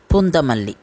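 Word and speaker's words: Poonamallee: The temple for today is Tirukachinambi Kovil or Varadaraja temple, which is located at Poonamalli. This place in Tamil is pronounced as Pundamalli.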